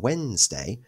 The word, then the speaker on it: Wednesday: the silent letter e wday two silent letters in Wednesday the D and the E and the last word